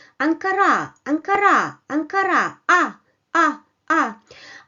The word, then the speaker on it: Ankara: So it comes in an unstressed position, while in the second position it comes with a small bar which indicates the stressed syllable and the stressed vowel, which is a bit longer than the unstressed one.